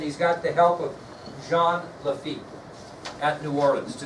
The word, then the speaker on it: Jean: So this French pirate is going to join forces, Jean Lafitte, and it says, it looks like Jean on your ID sheet, but it's pronounced Jean.